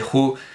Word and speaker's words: Hu: ajú chintao por cierto que yo digo Who pero la mayoría de los chinos pronuncian con una aspirada muy fuerte que hace como una jota Justin sin fin acá